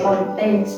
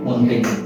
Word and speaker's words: Montaigne: Ini ada filsuf dari Prancis, Michel de Montaigne. Apa ini bacanya? Montaigne. Kayak Mobile Legends aja Montaigne.